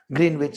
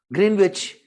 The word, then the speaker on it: Greenwich: This is a place called Greenwich which is little east of London but if I say Greenwich I'll sound wrong because we have been speaking it as Green Witch.